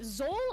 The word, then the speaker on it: Xol: like your name pronounced is it Zol or Soul the first one yeah okay yeah cause